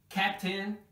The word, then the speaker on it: captain: Captain. Before I was telling you, just before we finish, that this suffix should be pronounced N, like in captain, curtain, mountain, except, it's important to mention, except when the word is monosyllable.